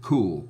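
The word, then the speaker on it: Qool: the cool rail that I'm sure you're supposed to pronounce it cool q-o-o-l that's um not as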